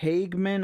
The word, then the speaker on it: Hageman: This is Representative out of Wyoming, Harriet Hageman, I believe is how you say her name, and she's going to